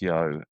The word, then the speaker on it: YEO: Sure, it's YEO. It's pronounced Yo, and it's Your Eyes Only is what it stands for.